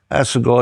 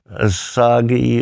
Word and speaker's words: Assegai: Assegai is a funny name. I have to spell it 40 times a day. People get the pronunciation wrong most times. What do they say mostly? Asagi it or you name it.